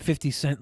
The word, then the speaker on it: 50 Cent: his name because I heard so many people say 50 cents. 50 cents. I'm like, No, they did not. 50 cent.